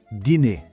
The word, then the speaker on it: dîner: A pronúncia é assim, ó, dîner.